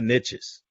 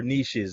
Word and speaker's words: niches: riches are in the niches yeah yeah or or niches i don't know how you guys say it niches niches it doesn't rhyme with nisha yeah i know right